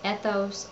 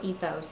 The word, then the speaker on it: ethos: And the third type of appeal is ethos or ethos. It can be pronounced either way.